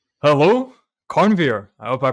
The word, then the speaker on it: Karnveer: Yes, my name is Karnveer.